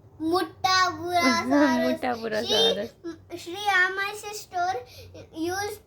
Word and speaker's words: Muttaburrasaurus: Muttaburrasaurus. Muttaburrasaurus. Shriya, my sister, used to pronounce Muttaburrasaurus as Buramuttasaurus, Very good.